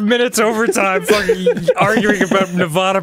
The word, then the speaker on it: Nevada: it would be pronounced Nevada. No one said you were an idiot. Because it comes from the word Nevada, which is Spanish, and that's how it's pronounced.